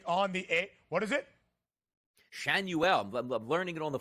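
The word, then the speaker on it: Schanuel: Shanuel. I'm learning it on the fly here as we go. Shanuel.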